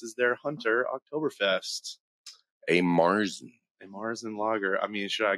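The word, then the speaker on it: Märzen: Marzen, if you want to get real nerdy about the pronunciation.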